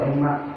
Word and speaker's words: Emok: Bang Emok atau Emak? Emok ya? Yang tangguh renteng itu apa? Emok ya? Bacanya harus Emok gitu ya? Emok itu gak boleh ya?